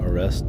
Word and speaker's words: Orestes: Okay, Orestes. It is literally just how it's spelled.